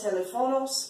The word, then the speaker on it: teléfonos: The accent mark tells you to stress the E.